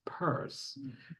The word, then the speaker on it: Pierce: 1831 by Samuel Stillman Pierce who after he married his wife began to pronounce his name as purse she was affected as